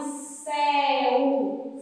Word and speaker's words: céu: Depois vem a palavrinha céu. Céu. É céu. A sílaba mais forte. Céu. É o som aberto. Então, a tia vai usar o acento agudo.